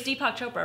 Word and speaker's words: Deepak Chopra: because oh I'm going you instead of its Deepak Chopra right yes okay I'm glad you pronounced it for me oh I love so